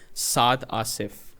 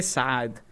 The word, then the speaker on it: Saad: like it's actually like if I had to say it like in the most like Pakistani way, it's like Saad Asif.